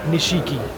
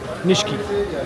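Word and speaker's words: Nishiki: इस मार्केट का नाम है निशकी मार्केट। नॉट निशिककी निष्की।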